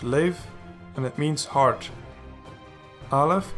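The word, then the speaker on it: לב: and it means some lammott sir a date pronounced lave and it means heart Alif Segal parish sigil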